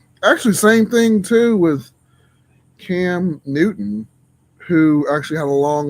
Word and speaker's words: Cam Newton: He pronounced his name wrong. It's Cam Newton.